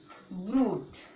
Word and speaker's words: ब्रूट: Okay, तो रा आया है, यू से पहले रा आया है, तो इसीलिए हम लोग यहाँ पे जो यू का उच्चारण है वो क्या बोलेंगे? यू करके, ब्रूट। ठीक है, क्या बोलेंगे? बाकी साथ पे रा है, फिर ऊ करके फिर ट बोलेंगे, ई नहीं बोलेंगे, तो क्या बोलेंगे? ब्रूट।